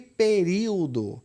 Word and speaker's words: período: A adolescência também é uma paroxítona, porque a sílaba tônica ela recai aqui, paroxítona, e período, que é proparoxítona.